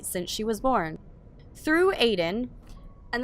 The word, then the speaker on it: Aiden: Through Aiden, and the name's supposed to be pronounced Aiden, not Aiden.